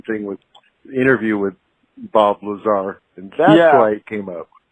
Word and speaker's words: Lazar: guy that could Bob laser Bob laser was are none that each letter is pronounced Lazar so I was wondering